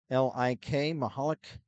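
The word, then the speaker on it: Michalik: first period Colin mihalik that's spelled m-i-c-h-a-l-i-k maholic um he scored that was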